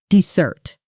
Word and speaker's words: desert: Dessert and dessert. Dessert, with stress on the first syllable.